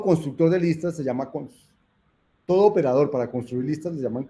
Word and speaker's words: cons: se llama dos puntos, que se pronuncia cons.